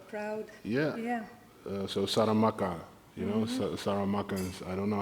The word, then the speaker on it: Saramaka: So Saramaka, you know, Saramakans. I don't know how to say it in English because I don't really say it in English that often. But in Surinamese, we say Saramaka.